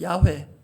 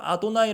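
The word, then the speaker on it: יהוה: 그래서 가장 중요해 부위는 단어 실제 발음은 야회 그러나 읽을 때는 하나님을 경외하는 마음으로 아도나이 아고는 하나님이라는 이름 여호와라는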